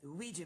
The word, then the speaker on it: Ouija: It's pronounced Ouija, Junior.